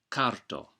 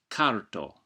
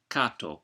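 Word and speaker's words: karto: R is always pronounced and preferably trilled. For example, carto. But if you find the trilled R difficult, you can pronounce it carto. Just make sure you don't say cato, because that's a different word altogether.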